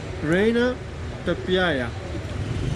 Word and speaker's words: Reina Pepiada: Reina Pepiada.